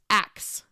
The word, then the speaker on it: ask: starting over number 39 ancient England pronounced ask as axe um and so when